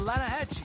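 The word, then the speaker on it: Lannahechee: rolled down to the Lana Hetchy River I caught some beautiful steelhead trout you mean the Lana no no the lana hatch it runs right near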